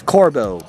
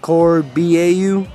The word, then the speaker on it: Corbeau: how to pronounce this so it's Corvo Corbeau right Corvo not corby au coeur BAU any hello guys I